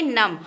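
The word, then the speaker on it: numb: नम क्या बनेगा नम देखिए मैं बी नहीं बोल रही हूं एन यू एम B spelling होगी लेकिन बोलेंगे नम और नम का मतलब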